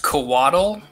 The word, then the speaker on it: Coatl: Although I should say it's pronounced Coatl, are you sure?